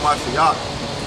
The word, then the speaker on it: Mashiach: Be followers of me, even as I also am of a Mashiach, which is Christ there, but we say a Mashiach, and that's how you say it in the Hebrew, which means anointed, right?